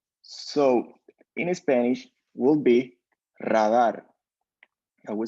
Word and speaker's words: radar: pronunciation so actually in English is uh the pronounce is Raider but in Spanish is radar so we put here uh in English Raider